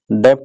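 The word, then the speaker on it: debt: Management, non डेट instrument, non डेट नहीं पढ़ते, डेट पढ़ते हैं, ठीक है, टी बी साइलेंट होता है, नॉन डेट इंस्ट्रूमेंट रूल्स, ठीक है।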